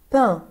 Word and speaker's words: pain: pain الA-I-N بنطقها un.